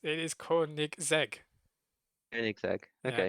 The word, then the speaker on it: Koenigsegg: Koenigsegg. Yeah, Okay. I think people pronounce the e a bit more, Koen or Koenigsegg or something.